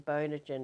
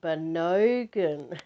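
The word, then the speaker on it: Bonogin: I said, you know, Bono, as in you too, B-O-N-O, gin as in the drink that you drink. And he said, oh, you mean Bonogan.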